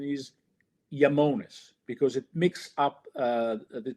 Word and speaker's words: Iamones: So the right pronunciation is Yamones because it mixes up the two parts or my two passions.